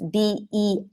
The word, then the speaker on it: beach: That's B-E-A-C-H, beach.